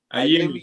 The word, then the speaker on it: Ayemi: You know how to pronounce his name, huh? Ayemi. Yeah, that's what I thought it was.